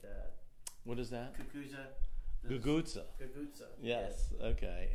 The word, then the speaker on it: cucuzza: Cucuza. Cucuza. Cucuza. Yes. Yeah. Okay. And it's spelled Cucuza.